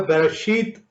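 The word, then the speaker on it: בראשית: ये इब्रानी ज़बान का लफ्ज बराशीत है, बेरेशीत भी कहते हैं, बराशीत है भी प्रोनाउंसिएट होता है।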